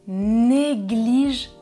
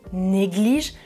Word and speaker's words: négligent: c'est le verbe ils négligent troisième personne du pluriel je ne prononce pas -ent et numéro 2 Tom est un étudiant négligent je prononce -ent parce que c'est un adjectif, ça va ?